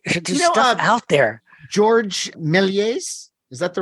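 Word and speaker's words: Georges Méliès: George Méliès, is that the right way to pronounce it?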